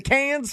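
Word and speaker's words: Cannes: Yeah, it's can. It's can.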